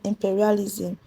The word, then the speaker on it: imperialism: Then the stress on imperialism. The stress on imperialism is on P while the stress on tribalism is on C R I.